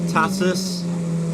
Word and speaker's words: Tatuus: it got the core a little pack with tatis that's how you say it all of their